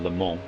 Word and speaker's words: Le Mans: So the French pronunciation is Le Mans, right?